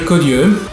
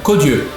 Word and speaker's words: Caudieux: Hi, my name is Caudieux. Oh, it's really easy, just, you know, as it's spelled, you know, Caudieux.